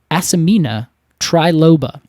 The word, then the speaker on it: Asimina triloba: It is Asimina triloba.